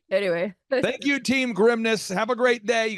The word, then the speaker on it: Grimnes: If you add an S, you will pronounce it correctly. Yeah. So think of it. My dad would say, think of it as like, don't say this, Dad. He's like, think of it as like the grimness of the situation.